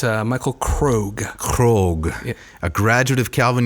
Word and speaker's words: Krogh: It's Michael Krogh.